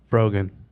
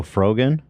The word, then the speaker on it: Frogan: girl Frogggin who here let me see Froggen. Oh Froggen.